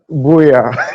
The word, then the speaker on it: Buea: Ki.Llings, our correspondent in Cameroon, joining us from Buea in Cameroon. How do you pronounce that name? Buea.